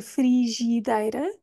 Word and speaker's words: frigideira: no ri frira frira Este é um dos casos em que um dos is é mudo isto acontece no meio das palavras eu não vou dizer frigideira vou dizer deira eu não pronuncio nem um nem o Primeiro nem o segundo I eu vou pronunciar o dayi porque é aí que está a rainha frigideira penúltima sílaba dei